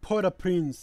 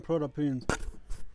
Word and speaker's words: Port-au-Prince: Yeah, she used to live in downtown Port-au-Prince. When they get Oh, Port-au-Prince, that's the pronunciation, Port-au-Prince.